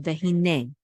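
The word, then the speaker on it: וְהִנֵּה: So the accent is on the last syllable, vehine, which means and behold, okay?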